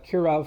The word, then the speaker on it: Kirov: are good kav uh I mean I pronounce it kav airships because I'm Russian so even though it's kirov is means um you know kirov airships in English but in the Russian they're pronounced K they pronounced that K airships so yeah K airships